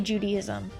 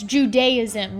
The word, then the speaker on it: Judaism: I know exactly how to say Judaism. He said, Rebecca, it's Judaism, not Judaism.